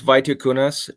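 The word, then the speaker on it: Vitkunas: credit report you know it it's pronounced Vita kunas but I just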